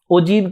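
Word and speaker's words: ogive: ओजीव क्या होता है? The term ओजीव is pronounced as ए ओजीव एंड is derive from the word OG.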